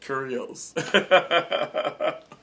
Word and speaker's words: Kyrgios: John Mcenroe and Nick curios um a lot of people can't pronounce his name but um the g is silent okay um almost like curious but curios anyway John Mcenroe let's